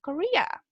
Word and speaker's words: Korea: Como que uno dijera Correa, pero mal, ¿cierto? en español. Korea.